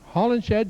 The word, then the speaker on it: Hollinshed: I believe that's pronounced Hollinsted. Hollinsted. Okay. Hollinshed, yes. That's Ernie right.